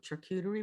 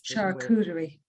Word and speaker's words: charcuterie: and i don't know tricutary boards that's charcuterie charcuterie boards i don't know and spell it out yeah it's uh charcuterie board pewter cooter is